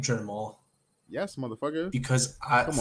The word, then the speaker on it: Jermall: I think it's either gonna be Pereira later into the fight or Jamal. Or is it Jamal? What Is his name Jermall?